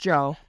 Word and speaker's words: Djo: But Joe, man, we just Joe had It's pronounced Joe.